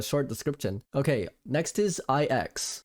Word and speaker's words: IX: description okay next is IX at first I thought the name was nine but they pronounce it in the game IX the nahility all progress